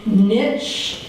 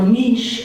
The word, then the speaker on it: niche: This will be very interesting because we're going to hear from niche or niche organizations, depending on how you pronounce it, but I pronounce it niche because I always think of riches in the niches.